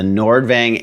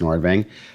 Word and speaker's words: Nordvang: goodness gracious so the nordvang 83 drive i think it's pronounced nordving looks like nordvang and if i'm butchering